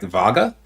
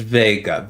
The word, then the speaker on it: Vega: pronouncing your name like if i introduced myself as vega and they were like vaga they're like no it's vega vega and if just over